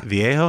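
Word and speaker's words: Vihaio: but esteban viejo yeah viejo is how you say it steven yeah i his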